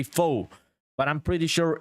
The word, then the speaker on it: pho: Yeah, Velocity Abstract says it's pronounced like pho.